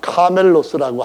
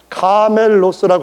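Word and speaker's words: κάμηλος: 하겠다 하는 사람들이 이것을 어떻게 다시 바꾸냐면은 카멜로스라고 할 때는 에라고 하는 그 모음이 들어가는 겁니다. 그런데 밧줄, 배에서 하는 이런 밧줄, 큰 공사장에서 하는 밧줄, 이럴 때는 똑같은 단어가 아니라 카밀로스라 해서 이 발음이 들어갑니다.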